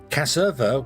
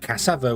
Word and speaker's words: cassava: Casserva would be wrong to me. That that would sound wrong because that would be like there's a u in it. But cassava would be there's an a in it.